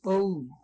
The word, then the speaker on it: Om: The three letters A-U-M pronounced in combination is Om, a generalized symbol of all possible sounds.